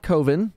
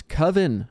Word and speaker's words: coven: then there's coven not coven it's coven only a dum-dum would think it's pronounced like cove with an n on the end you know okay coven's